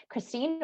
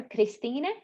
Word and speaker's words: Kristine: Kristine or Kristine would be how you say it in Latvian.